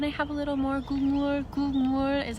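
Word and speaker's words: 국물: Gulmur is how you say it.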